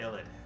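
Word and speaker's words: Yled: prestigious necromancy School in uh yit all yed uh I think that's how it's pronounced it's y l e d ID sounds good to illid there we go y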